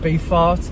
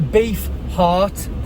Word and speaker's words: heart: eat um beef heart i have to pronounce that right else it sounds like i said beef art so a beef heart because basically i used